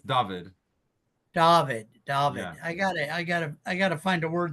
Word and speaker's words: Dovid: case he keeps the show but uh and pronounce your first name for me again please it's it's David David David I gotta I gotta I gotta find